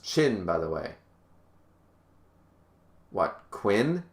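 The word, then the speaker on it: Qin: hades yeah haiti's gonna win viv said it's pronounced chin by the way what quinn quinn is pronounced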